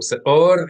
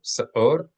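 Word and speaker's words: שאור: So se'or in popular pronunciation, that's popular, relatively accurate pronunciation, se'or, as well as modern Hebrew, se'or, or se'or, and in the more articulate, careful pronunciations, se'or, se'or.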